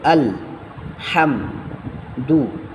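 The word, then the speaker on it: الحمد: যেমন আলিফ লাম জবর আল হামদু আলহামদু আলহামদু লিল্লাহি আলহামদু আলহামদু লিল্লাহি লিল্লাহ এই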